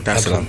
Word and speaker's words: Dar es Salaam: Did I pronounce that right? Yeah. Dar es Salaam.